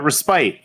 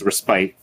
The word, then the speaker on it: respite: and you guys were like it's respit that's don't worry the that I uh hired uh was also kept saying that after I corrected her it spelled like respite but everything I learned in kindergarten tells me it's respite she was an old